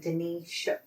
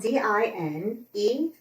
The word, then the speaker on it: Dinetia: So she's like Denisha. I don't know. Yes. Well, it's spelled Dinetia, like dying Tia. Okay. Dean. I always go to say her name like D-E-N. D-I-N. Yes, D-I-N.